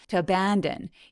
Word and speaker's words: abandon: 요런 단어를 사용하게 됩니다 abandon 요거는 app 할 때 애 소리라서 엄청 길게 소리납니다 to abandon the kids